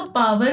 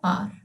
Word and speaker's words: power: पावर देखिए POWER, इसको पावर भी कहते हैं पार भी कहते हैं, लेकिन अगर आप डिक्शनरी पे देखोगे तो इसका करेक्ट प्रोनाउंसिएशन है पार। ठीक है, इसलिए मैं पार बोल रही हूँ।